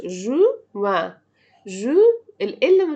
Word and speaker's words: juin: قلنا janvier, février, janvier, février, mars, avril, mai, juin, juillet, juin. الإن متنطقش. juin.